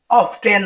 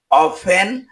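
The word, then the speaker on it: often: ও এফটিই এন এর উচ্চারণ অফটেন হবে না। এর উচ্চারণ হবে অফেন।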